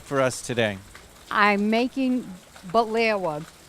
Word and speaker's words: Baklawa: Baklawa, she was telling me how to pronounce it right, is kind of like baklava.